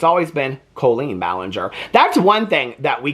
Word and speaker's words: Colleen Ballinger: Okay, so I just wanted to kind of have a conversation with you guys today about Colleen Ballinger and the last year.